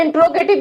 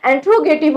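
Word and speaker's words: interrogative: कुछ लोग इसे इंट्रोगेटिव भी पढ़ते हैं, लेकिन इसकी सही प्रोनाउंसिएशन इंट्रोगेटिव होती है, ठीक है।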